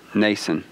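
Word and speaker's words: Mnason: a name like that it's either mason or nason is it with m nason okay the m is silent nason so they stay at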